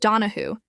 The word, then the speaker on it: Donahue: degree of popular admiration known as bold Jack donaho pronounced donaho his name became legendary